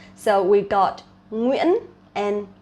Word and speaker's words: Nguyễn: Nguyễn, Nguyễn is like the most famous last name of Vietnamese people. Nguyễn, Nguyễn. So I see a lot of foreigners, they actually pronounce incorrectly. Try to relax your muscle, okay?